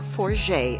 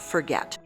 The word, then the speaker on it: Forget: of approximately 55 people a french name the village is pronounced more like four jay instead of forget since this is the